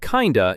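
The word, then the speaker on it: kinda: And you'll hear it pronounced kind of in fast speech.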